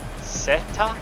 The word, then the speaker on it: zeta: In Spanish is Zeta, pronounced Satan. Oh, not pronounced Zeta, pronounced Satan. So the Z has an S sounding.